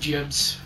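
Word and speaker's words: gibs: Got some Gibbs. Yes, I know it's pronounced Jibs. Don't start a full argument about it. It's pronounced Gibbs or Jibs. We've just been calling it Gibbs.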